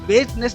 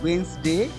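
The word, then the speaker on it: Wednesday: जनवरी, फरवरी, मार्च, अप्रैल, मई, Sunday, Monday, ट्यूसडे, वेस्टनेस नहीं वेडनेसडे, Thursday, Friday, Saturday.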